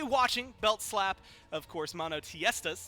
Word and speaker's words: MONOTEISTAS: So we will be watching Belt Slap, of course, MONOTEISTAS. That's how I've been told it's pronounced, and that's what I'm going to stick to until somebody tells me I'm wrong.